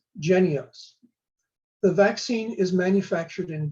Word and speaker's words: Jynneos: about the monkey pox vaccine which is called genios it's spelled j-y-n-n-e-o-s j-y-n-n-e-o-s but pronounced genios the vaccine is manufactured in denmark and distributed